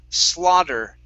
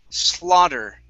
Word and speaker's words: slaughter: Okay, this word here is pronounced slaughter. Slaughter. Slaughter. Okay, instead of slow, it's slaw. Open your mouth up more when you pronounce that ah sound.